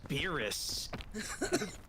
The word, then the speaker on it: Beerus: No, his name is Beerus. Just look up Beer Us. It's one word, but it's spelled Beer Us.